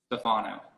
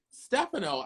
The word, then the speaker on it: Stefano: of this um i think tyra never pronounced my name correctly thinking back at it or she never pronounced my name how i pronounced my name how do you pronounce your name stefano see that's what i saw it but when i heard her on the on the show stage stefano i was like oh